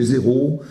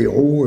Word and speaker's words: héros: français sans le vouloir quand j'ai évoqué les zéros de Corneil évidemment c'est les héros et on voit bien qu'il y a une petite différence entre un zéro et et un héros alors pécuniare pécunier donc